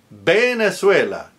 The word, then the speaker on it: Venezuela: Venezuela. Pronounced with a B like boy. Where are you going? A Venezuela.